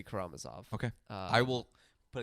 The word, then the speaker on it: Karamazov: of that consistent because I pronounce it like three different ways depending on the day and how I'm feeling uh but today I think it's going to be karamazov okay uh I will